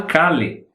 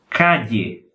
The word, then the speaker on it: calle: Não é calle, é calle. Procure imaginar o seguinte, pensa na letra I do Brasil, ok? Mas não é exatamente calle. E pensa na LH do Brasil, mas não se pronuncia exatamente calle. É uma mistura entre a I e a LH.